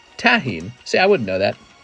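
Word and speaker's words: tahini: It's pronounced Tahine.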